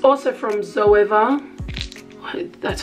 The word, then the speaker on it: Zoeva: It's also from Zoeva, that's how you say it, and it's 228.